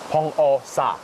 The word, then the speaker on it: Beomeosa: How do you pronounce...? Beomeosa.